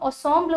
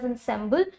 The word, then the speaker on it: ensemble: नाउ ये this word is a French word, तो इसको हम ensemble बोलते हैं इन फ्रेंच, बट इंग्लिश में यू can pronounce it एज ensemble, okay, या ensemble भी आप बोल सकते हो, चलेगा।